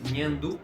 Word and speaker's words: nhandu: Ou seja, a pronúncia de goreko é uma pronúncia oral e a pronúncia de nhandu é uma pronúncia nasal, certo?